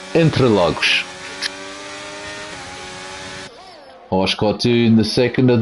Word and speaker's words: Interlagos: And it should be actually pronounced Interlagos.